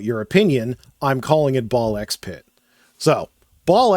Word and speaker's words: BALL x PIT: So, the creator of this game says that it is pronounced ball pit. Much like Hunter Hunter, you don't pronounce the X.